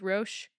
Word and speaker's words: Roch: Anyway, so we're just gonna refer to him as Roche because I can pronounce that and it works. Roche. Roche. 'Kay. Roch. But it's French.